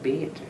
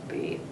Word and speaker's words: Beth: yet, but you know, in Two Rivers, BETH is, if you're older, it's pronounced Beth, the German. And when I started teaching, I insisted on Beth. I said, those kids won't know what I'm talking about if I say, call me Mrs. Bate.